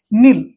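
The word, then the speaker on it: kneel: এইটা তারপরে দেখুন তো কে এনই এটি কে সাইন করে কি নল ওকে আর অর্থ হচ্ছে হাটু হই বসিবা হাটু হয়ে বসিবা ওকে আগুক এখন এ কেকু সাইলেন্ট করি নাফসাক নাফসা আর অর্থ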